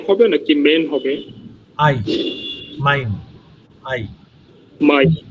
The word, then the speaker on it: Mein: আই, মাইন, আই, মাই। এটা ইংলিশে অনেকটা মাই এর মতো উচ্চারণ হবে।